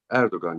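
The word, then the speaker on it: Erdoğan: Is that how you pronounce it, Erdogan? Erdogan, yes.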